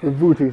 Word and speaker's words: Vibhuti: I'm waiting for you to pronounce it, because I wasn't even going to try this one. Vibhuti? Vibhuti, thank you.